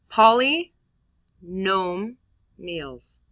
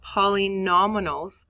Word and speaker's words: polynomials: Poly nome meals. Not poly nominals. That's a common one. Not poly. That's also a pretty common common one.